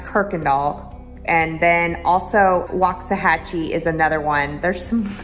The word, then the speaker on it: Waxahachie: kirkendall and then also waxahachie is another one there's some there's some really weird words here that like waxahachie is you know w-a-x but it's not pronounced that way so some funky words